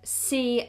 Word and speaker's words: sea: Also, the word sea like the ocean is pronounced exactly the same. I can see the sea.